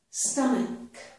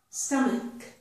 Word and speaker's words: stomach: Notice this common word, stomach, stomach.